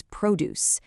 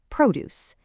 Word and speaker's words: produce: When we're talking about all these fresh fruits and vegetables as a group, the noun is produce. The stress is on that first syllable, produce.